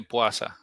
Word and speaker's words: puasa: So the word puasa, would one ever hear one say puasa, or was it just puasa? I see you looking at how it's spelled, yeah. But I've only ever heard people say puasa.